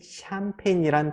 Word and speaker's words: champagne: 세 가지로 발음 되는데요 샴페인처럼 프랑스어에서 유래된 영어 단어의 알파벳 CH 발음이 이렇게 발음이 돼요 다시 한번 프랑스에서 유래된